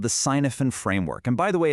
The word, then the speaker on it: Cynefin: Well, we're going to use this really powerful mental model called the sinophen framework. And by the way, it's pronounced keen even.